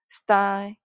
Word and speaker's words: style: E는 소리 안 나니까요. 근데 Y하고 T하고 연결되겠죠. 그러면 tie, tie, 그렇죠. S, tie, style, style, style, style.